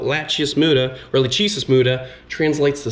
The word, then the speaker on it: Lachesis muta: Right here, the scientific name, Lachius muta. Get a close look so you guys know how it's spelled. Lachius muta, or Lachesis muta, translates to silent death.